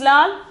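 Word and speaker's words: लाल: Okay, lal, pronunciation is lal.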